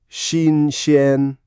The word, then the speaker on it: 新鲜: xīnxiān xīnxiān Close. xīnxiān Both start with X in Pinyin, which is like a light SH sound with your tongue forward.